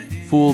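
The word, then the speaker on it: ful: Cairo's got you covered with the other heavyweight champion of breakfast, foul medames. Pronounce it like fool.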